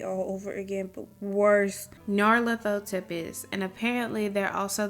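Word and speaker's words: Nyarlathotep: There's no official way to pronounce that name since it's a made-up nonsense word, but I prefer Nyarla Thotep.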